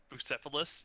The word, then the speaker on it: Bucephalus: pronounce it. Bucephalus?